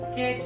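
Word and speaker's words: catch: बाद सीच आ जाए यदि टी के बाद सीच आ जाए तो टी क्या होगा साइलेंट होगा जैसे हम कुछ एपल यहा पर लेते है सी ए टी सी एच इसको क्या पढ़ेंगे केच नहीं केच पढ़ेंगे केच क्योंकि टी के बास सीच आ गया तो इसको क्या पढ़ेंगे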